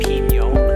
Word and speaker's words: pinyon: Now, real quick, before I get into this excellent conifer, I know that in some parts of the country people pronounce it pignon, and that's great.